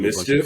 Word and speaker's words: MSCHF: It's MSCHF. MSCHF. Mischief, basically. Word. That's how you say it.